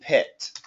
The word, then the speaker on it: pit: you said Pete but I want it to be a shorter I so I want to compare these two sounds Pete and pit Pete pit Pete pet